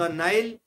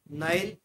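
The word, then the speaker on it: Nile: जैसे दुनिया की सबसे लंबी नदी नील नदी, उसे हम हिंदी में तो नील नदी बोलते हैं, बट in English it is called the नाइल river. तो नील हिंदी में, नाइल इंग्लिश में।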